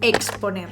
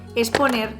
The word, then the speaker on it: exponer: La más mayoritaria y la que la RAE hace hincapié que es la más correcta es la pronunciación de KS, es decir, exfoliante, exponer.